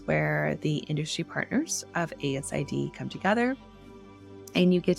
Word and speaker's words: ASID: You say the letters out loud. It's not pronounced ACID, it's ASID.